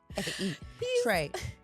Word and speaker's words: Trae: Like your name is Trey, his first book of all, was- and you're a white man, and it's spelled TRAE. Trey Trey.